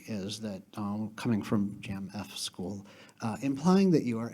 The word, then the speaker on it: Jamf: why I'm from this Jam F school I think it's pronounced Jam by the way finally